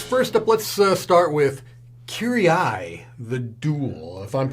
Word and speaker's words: Kiri-Ai: right, Chris, first up, let's start with Kiri-Ai, the Duel, if I'm pronouncing it anywhere near close to correct.